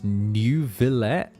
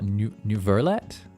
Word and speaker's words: Neuvillet: When they pronounce Neuvillet with an R, Neuverlet.